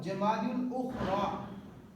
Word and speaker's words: جمادی الاخریٰ: لغت کے اعتبار سے ان 2 مہینوں کے نام درست نام اور صحیح تلفظ یہ ہیں جمادی الاولیٰ اور جمادی الاخریٰ.